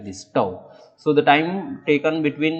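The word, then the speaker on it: τ: successive collisions is tau it is it is pronounced like this tau so the time taken between is tau that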